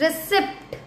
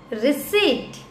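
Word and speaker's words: receipt: नाउ 19th रिसिप्ट. नो it will be रिसीट.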